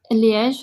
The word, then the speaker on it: Liège: I'm going to pronounce this name incorrectly. Is that Liège? Liège, yeah.